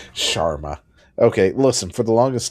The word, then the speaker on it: Sharma: Sharma. That's what I said. It's like Charmin but without the N. Like Schwarma. Okay. Sharma.